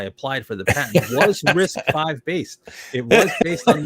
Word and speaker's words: RISC-V: Oh, it's 5. You know what his answer is going to be? What? RISC-V.